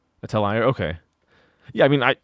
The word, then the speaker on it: atelier: in Japan but the the word atellia is like originally French so I go with like the f do do not say atlier.